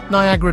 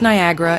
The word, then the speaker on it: Niagara: is an onyera Lee Red Jacket pronounced Niagara in the spring of 1820 as if it were written oniangara several figures are mentioned